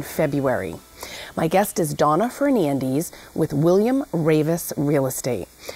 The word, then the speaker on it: Fernandes: How do you say your last name? Fernandes? Yes. Okay. That's correct.